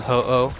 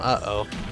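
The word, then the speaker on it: Ho-Oh: H oh and then I just went uh oh just got rid of the H all together then they' be like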